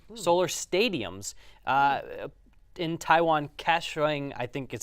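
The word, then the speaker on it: Kaohsiung: the solar theme solar stadiums uh in Taiwan cashing I think is how it's pronounced have has a stadium shaped like a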